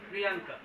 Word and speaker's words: Priyanka: তাহলে পি, সবাই আমার সাথে বলো, পি আর আই ওয়াই এ এন কে এ, প্রিয়াঙ্কা। ওর নামটা হচ্ছে প্রিয়াঙ্কা, কিন্তু বানানটা হবে এইরকম করে।